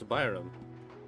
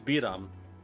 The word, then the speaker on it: Biram: Oh, you don't pronounce it as Byram. It's freaking Natlan name. It's Biram. Biram.